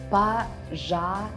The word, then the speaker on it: пожалуйста: «Да, пожалуйста». Pay attention to how you're supposed to read this word. Пожалуйста.